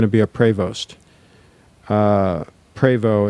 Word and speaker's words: Prevost: be a Prost uh preo is way they most purists pronounce it P Prevost p r